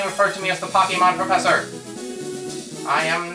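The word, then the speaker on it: Pokémon: It's pronounced Pokemon.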